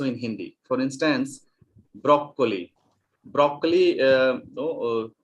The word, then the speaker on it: broccoli: Broccoli, we often pronounce it as broccoli, but in Italian the sound is broccoli.